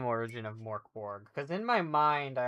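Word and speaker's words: Mörk Borg: What is the name origin of Morborg? Cuz in my mind I always assume it or associate it with gork and mor. I'm like but it's not it's not it's actually pronounced merkborg uh because the umlout and it is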